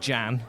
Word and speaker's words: Jan: Like Jan. Like a girl's name. Yeah. But you say it like you say it like the Dutch name, so Jan Lamona.